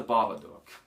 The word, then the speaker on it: Babadook: that um it's the babadook um not duke it's doug is in like like d-o-o-k is like pronounced like book makes sense um it